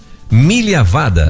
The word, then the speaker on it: Migliavada: pronúncia é avada milia vada é isso é um sobrenome de descendência italiana ah Belo Belo Ah